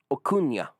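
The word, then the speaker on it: Acuña: Acuna.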